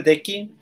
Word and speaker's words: Deki: Así se pronuncia tu nombre, Deki.